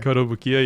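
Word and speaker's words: Kotobukiya: pronunciation fucked me up. Oh yeah. That's right. Koto Bukiya.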